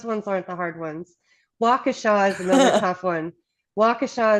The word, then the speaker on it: Waukesha: Waukesha is another tough one. Waukesha is always Waukesha. pronounced Waukesha by those that don't know.